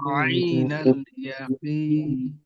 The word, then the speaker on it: عين اليقين: عين اليقين عين اليقين কেউ যদি এখানে সিম্পল ভাবে পড়ি আইনাল ইয়াকিন, ওটা হামজা হয়ে গেল, গলার শুরু থেকে উচ্চারণ করবো। আর এখানে পড়ার উচিত কি এখানে আইন গলার মাঝখান থেকে আইনাল ইয়াকিন।